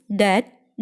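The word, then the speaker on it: debt: ഉദാഹരണമായി ബി എന്ന ലെറ്ററിൻ്റെ കാര്യം എടുത്താൽ ബിക്ക് പിന്നിൽ എം വരുമ്പോഴും ബിക്ക് മുന്നിൽ ടി വരുമ്പോഴും ബി സൈലൻ്റ് ആയിരിക്കും. എമ്മിൻ്റെയും ടിയുടെയും ഉച്ചാരണമാണ് അവിടെ വരിക. എക്സാമ്പിൾ നോക്കിയാൽ തം, ക്ലൈം, ഡാറ്റ്, ഡൗട്ട് എന്നിങ്ങനെ.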